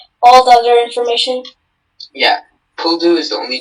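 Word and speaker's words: pull-doo: Yeah, Puldu is the only pronunciation.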